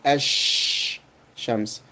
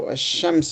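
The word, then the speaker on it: الشمس: alham you will see ash Shams, right? Zah. Why are these guys making as and why don't they just put al? Yes, they have put al but this is the pronunciation.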